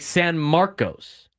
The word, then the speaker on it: San Marcos: It's spelled like San Marcos, but they say San Marcos. Because Texas is wrong.